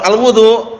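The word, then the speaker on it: الوُضوء: bacanya gitu ya alwadu kalau di fathah alwadu wau fathah berarti airnya kalau alwudu perbuatannya alwaduu Bil Fathi Alma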